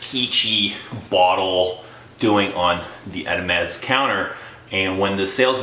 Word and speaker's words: Hermès: on the shelves of Hermès? I've been kind of corrected on my punctuation. You're not supposed to pronounce the H, but yeah, I was